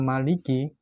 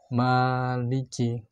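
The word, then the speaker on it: مَالِكِ: Kata Maliki tulisannya adalah Mim, Lam, dan Kaf. Tetapi kita membacanya adalah Mimnya panjang. Maliki, bukan Maliki. Padahal tulisannya Mimnya tanpa alif.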